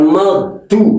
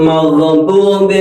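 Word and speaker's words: المغضوب: Ghairil maghdu, bukan maghdu.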